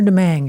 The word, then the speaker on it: Domingue: Ann Trainer Domingue is how she pronounces it.